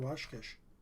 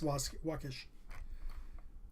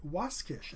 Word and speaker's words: Waskish: I want to say Waskish. Yes, Waskish. Or Waskish. I said it right the first time.